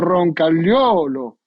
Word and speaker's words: Roncagliolo: muy bien italiano, y él dijo algo así como Roncagliolo. Usó un sonido que soy incapaz de decir.